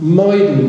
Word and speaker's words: Maidan: And 10 years later, there was the so-called Maidan Revolution. It looks like the word maiden, but I believe it's pronounced as in the name of Maidan, which simply means square.